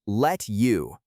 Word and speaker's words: let you: For pronunciation, let's look at let you. The T at the end of let and the Y at the start of you merge together to create a soft chish sound.